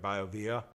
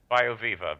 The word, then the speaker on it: BioViva: And then you also have the I'm not sure I'm going to pronounce it right, BioVia. BioViva, V-I-V-A.